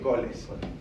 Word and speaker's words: Colles: y en el perineo se llama de coles, ¿sí? O colles se escribe.